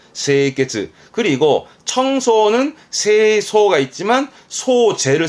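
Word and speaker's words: 清潔: 청결의 세이케츠, 세이케츠. 그리고 청소는 세소가 있지만 소제를 쓰면 소지. 한자가 다르니 발음이 다르다는 건 체크해 두시고요.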